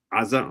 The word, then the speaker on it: Gaza: Ashcolon, Ashto, Gaza or pronounced correctly Aza Raza. We even hear the Arabs pronounce pronounce as raza starts with um gat